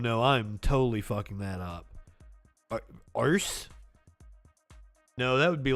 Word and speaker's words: Arce: A-R-C-E. Anybody got a really good guess at how to say that? Arque? That's Arque? Louis Arque? We'll look it up. Because we like to learn. Give me a phonetical pronunciation. Luis Arce. Arce. Luis Arce.